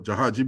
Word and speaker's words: jahaji: here in 1845 with their gei bundles or jahaji bundles as it ought to be pronounced and included in that